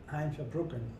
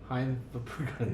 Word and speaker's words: Hein Verbruggen: Heinz Verbruggen. Hein Verbruggen, Yeah. sorry. I couldn't pronounce it properly.